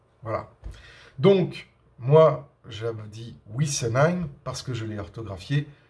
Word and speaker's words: Wissenheim: C'est pas Wissen, c'est Wissen. Voilà. Donc je voulais faire cette petite vidéo un petit peu polémique. Je sais qu'il y a plein de gens qui ne vont pas être d'accord, mais jusqu'à preuve du contraire, Wissenheim se prononcera Wissenheim.